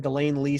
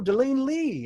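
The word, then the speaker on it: De Lane Lea: answered my question remember I keep saying Delaine Lee studios and I'm not sure if I'm pronouncing it right well I wasn't and he he said he said oh Delaine Lee and I'm like ah so I know I know I know how to pronounce it I didn't really ask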